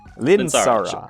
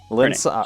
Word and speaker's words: Lynssara: And now I'll activate, how do you pronounce this name? Lynssara. Lynssara. Her name. Lynssara.